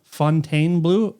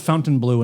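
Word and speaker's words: Fontainebleau: Fontaine Blue. I thought it was Fountain Blue until 4 days ago. I think you have to say it like uh you're sniffing rancid French cheese.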